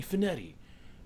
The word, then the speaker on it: Spinetti: Fitzgerald first officer Giovanni spinetti rhymes with confetti second officer Clark seed